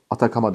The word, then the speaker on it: Atacama: bizim Neydi bunun ismi atacama diye yazılıyor atak ama diye okunuyor Burası da yine bakın dünyanın